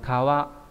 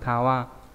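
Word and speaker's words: 川: Ông cư đọc là kawa. Ví dụ kawa là sông, vậy các bạn thấy giống chữ xuyên đúng không? Chữ xuyên này. Đây. Đấy, cũng là kawa.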